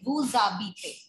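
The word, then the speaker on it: vous habitez: See, beta, the rule is that H is treated as a vowel, right? So when we pronounce it with wu, we call it wu zabite.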